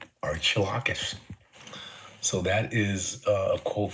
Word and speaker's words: Archilochus: Archilocus. Archilocus.